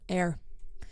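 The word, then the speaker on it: Aire: how to pronounce it is it air air Airy it's air air Kylie said it's air I think she commented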